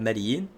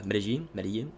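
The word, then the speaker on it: Medellín: There's differences in pronunciation for the double L. I believe it's Hispanics, like from Spain itself, pronounce it like a je, and it's more of a Caribbean thing to say a ye than a je.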